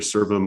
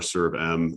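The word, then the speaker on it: SERVM: right pronunciation servant uh either pronunciations are are used uh but that's correct either serve them or serve M uh because of the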